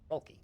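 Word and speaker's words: Vrolki: Well, Rolki, I think is how you say your name? V-R-O-L-K-I, Volki? Volki.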